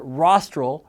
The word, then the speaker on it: rostral: you can remember that rostral rhymes with nostril so the rostral is